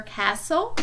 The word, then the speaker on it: castle: When the letters STLE are together in a word, the letter T is silent. Draw an X over the silent T in each word. So for castle, you're going to draw